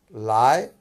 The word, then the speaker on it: 来: বলি নি মানে তুমি লায় যখন বলি এটা আমি বলি সেকেন্ড টোনে লায় মানে কাম লায় এটা একটি ভার্ব অতএব নি লায় ঘটনাটা হয়ে গেল সাবজেক্ট এবং ভার্ব তুমি আসো নি লায় আমরা ইংলিশে দেখি কাম